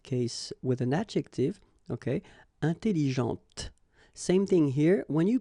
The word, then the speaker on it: intelligente: also in that case with an adjective, okay, intelligente. Same thing here. When you put this well, actually you will pronounce the final T, okay, but you don't pronounce this here. Intelligente.